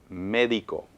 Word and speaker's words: médico: ¿Y dónde escuchas énfasis? Yo lo escucho en la primera, bueno, en la última, si vamos de derecha a izquierda, en la médico.